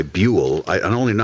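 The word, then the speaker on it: Buhl: B-U-H-L, by the way, Buell.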